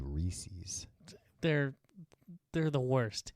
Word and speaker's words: Reese's: What do you think about these people that say Reese's? They're the worst. Right? Yeah. It's not spelled like feces. And it's supposed to rhyme with pieces.